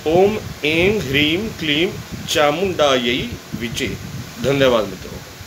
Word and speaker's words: चामुंडायै: मित्रों, चामुंडा यई, यह के ऊपर जो दो मात्रा हैं उसका संस्कृत में उच्चारण यही किया जाता है, जिसे हम हिंदी में यह बोलते हैं। आमतौर पर बोलते हैं चामुंडा यई विचे, चामुंडा यह नहीं, चामुंडा यई विचे।